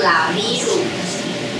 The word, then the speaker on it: Laviru: 叫做拉米鲁。拉米鲁，我的瓶子可以给我一下吗？茶品哦，拉米鲁，它的茶品啊，我